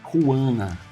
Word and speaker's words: Juana: É Ruana. A pronúncia está correta, né, irmã?